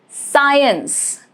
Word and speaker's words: science: Rule is C is usually silent after S and before I, E or Y. For example, the word scent. Scent, C is not pronounced. Fascinate, science, all of these letter C is silent as it is coming after the letter S. So it is directly attached with letter S.